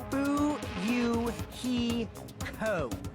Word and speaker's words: Fuyuhiko: last name is my first name is pronounced boo you he co everyone knows this this